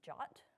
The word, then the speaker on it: JWT: tokens json web tokens or jwts which is also often pronounced jot because i guess jwt